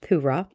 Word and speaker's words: Purah: I'm pretty sure that's pronounced Purah. Listen to what the Midianites are saying, and you will be greatly encouraged.